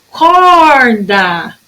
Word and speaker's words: corda: Corda. O meu cor de corda, ele é mais forte. Eu tenho da, que é a última sílaba, e tenho cor, que é paroxítona.